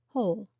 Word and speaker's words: whole: spellings are historical centuries ago the W was pronounced who whole whole complete entire and whole an empty space